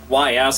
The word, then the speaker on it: Ys: The East games, YS, a lot of people will go and pronounce it a different way, but it's East.